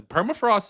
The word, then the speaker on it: Permafrost: Even though perafrost is giving me Hold on. Hold on. You're not pronouncing her. Per perafrost. Perrost. Perafrost. There you go. You got to roll R.